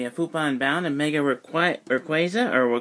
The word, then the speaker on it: Rayquaza: So we have Futon Bound and Mega Rayquaza, or Rayquaza, if you prefer to pronounce it that way.